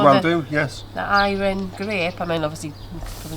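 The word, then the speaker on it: Airén: I think it's Airen. pronounced Airen. I mean, Airen, a bit like Ira.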